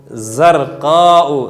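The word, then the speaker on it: زرقاء: मेरे साथ पढ़िए, अल-फ़राशतु ज़रक़ाउ। ज़रक़ाउ में ज़ा जो अल्फ़ाबेट है इसमें विसल बहुत अच्छी निकालनी है, जितना विसल निकाल सकते हैं इसका प्रोनाउंसिएशन बड़ा ब्यूटीफुल हो जाएगा।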